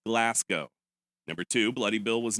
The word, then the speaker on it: Glasgow: Number one, the city of Glasgow is pronounced Glasgow.